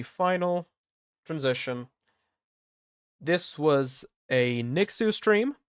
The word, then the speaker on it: Nixu: This was a Nixu stream. It's pronounced Nixu, not. I'm looking at you, Squig, or Nixu, or whatever. It's Nixu.